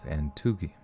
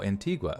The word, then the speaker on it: Antigua: know how to like they'll have it written Antigua Oh Antigua okay sweet so that was way easier than how they had it so Antigua anteed why let's see